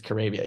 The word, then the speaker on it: Caribbean: is actually had written out like this is pronounced like Arabia it's not carabia it's Caribbean you know stuff like that so it was